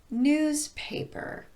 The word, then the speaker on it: newspaper: For example, newspaper. I'm stressing the first syllable in paper by elongating it, not by raising my pitch. Newspaper.